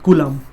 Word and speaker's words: Coulomb: कूलम की spelling होती है बेटा COULOMB, कूलम।